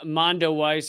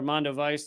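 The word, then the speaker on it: Mondoweiss: So this is from Mondo Weiss, or Mondo Weiss, depending on how you pronounce it, but they do great work on Israel and Palestine.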